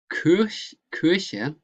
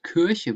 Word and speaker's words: Kirche: So Kirche, this, excuse me, church, you pronounce not Kirche, but Kirche. Kirche, that's an E. Kirche. In my province, we say Kirche, but it is Kirche.